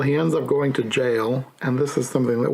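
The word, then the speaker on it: gaol: Jail and jailer. When I was reading it, the book, I wanted to read it as goal or goalers, but no, you just pronounce it as jail and jailer.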